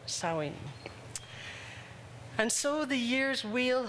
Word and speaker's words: Samhain: It's spelled Samhain, and Dr. Google says it's pronounced Samhain in Ireland, Savin in Scotland, and Samhain in Wales. So since my heritage is Welsh, I'll call it Samhain.